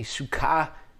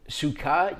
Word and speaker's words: Sukkah: You can see in the top left there, transliteration is spelt with the C. The reason that is because the Hebrew letter is a samech. A samech makes an S sound, a hard S sound. We also have a sheen or a seen in Hebrew, which makes an S or a sh sound. So to differentiate them in the way it's transliterated, they've put a C, which in English we could pronounce as a S sound as well.